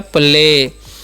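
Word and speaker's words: play: हैं प एल से ल और ए वाई जब भी रहता है उसका चन एकले होता है तो हो गया प्ले प्ले मतलब क्या होता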